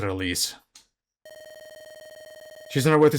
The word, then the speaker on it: Elise: And yes, I checked the heroes, they pronounce it Elise.